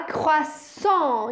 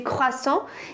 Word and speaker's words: croissant: Então a gente vai falar croissant e vai fechar a boca no final, tá? É um som bem fechadinho de croissant.